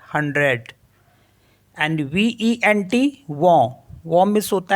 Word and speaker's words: vent: For example जैसे CENT, तो इसको पढ़ते हम सौ, क्योंकि टी साइलेंट होता है तो सौ हो गया, सौ मिस होता है 100। एंड VENT, वॉ मिस होता है विंड।